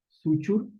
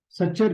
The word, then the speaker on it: suture: ये बड़ा इंपॉर्टेंट चीज है, आ सकता है एग्जाम में, SUTURE, सुचुर जोन। ठीक है, क्वेश्चन देखो कैसे आएगा कि जो सच्चर जोन है, या सुचुर भी आप इसको प्रोनाउंस कर सकते हैं, इंग्लिश में SUTURE